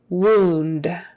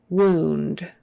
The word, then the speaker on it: wound: not ow O so wound wound ooh ooh ooh as if it was um as if it were two o's wound and then of